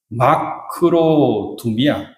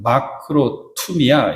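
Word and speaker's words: μακροθυμία: 올해 참으면 두 단어가 이렇게 합해진 건데 마크로두미아 또는 마크로미아 이렇게 발음하는데 마크로는 오래 투미아는 뭐냐면 마음을 지킨다 이거예요.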